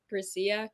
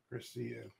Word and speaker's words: Grecia: up you gotta let us know how to pronounce it so we can move forward on this Gracia chiso Gracia Gracia graia all right good you know I